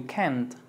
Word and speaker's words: can't: think you think you can't you can't can't can't can't can't debe sonar la t porque si dices can es afirmativo y can't es cannot viene de negativo.